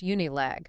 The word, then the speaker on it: Unilag: At the University of Lagos Unilag, pronounced Unilag.